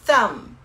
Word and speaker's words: thumb: Mas a gente não pronuncia a letra B, é thumb.